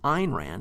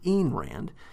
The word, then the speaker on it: Ayn Rand: and fairly positively although he pronounces her name wrong it's Ein Rand not enrand but anyway he does